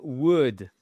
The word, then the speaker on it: would: I would. Déjà, le L, vous ne l'entendez surtout pas, et le OU, c'est un O court.